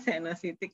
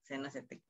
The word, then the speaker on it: senositik: Ya, bacanya senositik ya. Ya, nggak apa-apa. Iya, jadi senositik. Ya, tapi tulisannya kayak gitu. Bacanya kayak konositik ya. Atau sonositik.